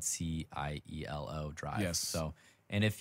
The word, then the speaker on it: cielo: than welcome if you want to call it cello drive get out leave yeah we don't we don't want that yellow yellow sealant it's basically when you you you go to pronounce it cielo and you're like that's wrong no you're right